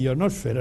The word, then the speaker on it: ionosfera: Por cierto que se dice atmósfera, pero no se dice heterosfera y ionosfera, es una cosa interesante lo de los acentos en castellano o español.